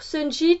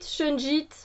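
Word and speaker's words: shungite: Sunjit, Shunjit. Il y en a qui disent Sunjit, il y en a qui disent Shunjit.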